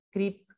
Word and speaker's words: crip: traducción de esta palabra, crip, vidas arrastradas, rotas, lisiadas, cojas, locas, ansiosas, obsesivas, brotadas, disfuncionales, doloríficas, fatigosas, desechables, discas, depresivas, insuficientes. Pronuncio Crip sin el acento sajón original, con la intención de